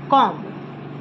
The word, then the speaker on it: comb: Then comb, no, B is silent, it's comb, comb.